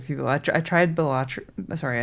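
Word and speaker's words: Balatro: I think it's Bellatro, right? But whatever. Every I' I've heard I feel like when I've heard Americans say it, I've heard bolatro and when I every Australian friend that I've heard say it has said bilatro or bilatro.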